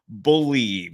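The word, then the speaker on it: Bleav: And don't forget to use the promo code believe. That's the name of the network we're on. It's spelled B L E A V.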